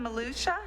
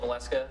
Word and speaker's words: Maleska: Malusha? Did I pronounce that terribly wrong? Everybody does. My name is Maleska.